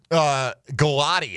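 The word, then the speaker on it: Gillotte: Ashton Galati, I think is how he pronounces it.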